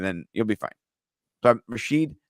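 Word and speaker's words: Rashid: you'll be fine but Rasheed Shahed I'm saying it wrong I said rahid sorry my guy re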